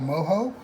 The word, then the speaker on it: mojo: Cuban culture they have something called Moho and this is really really similar in its it's similar it's it's spelled exactly the same way that you would spell mojo they just pronounced it different so we need an